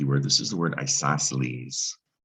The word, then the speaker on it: isosceles: word isosceles and uh the c in isosceles is silent right the other thing about this word you actually pronounce the e at the end isosceles right it's not